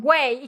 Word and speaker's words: güey: Güey, gu, e, o güey. Like the whey protein.